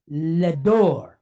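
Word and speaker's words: לדור: So we have a D sound, an O sound, and then an R sound. Resh, right? R sound. So d, or, door. So the word is ledor.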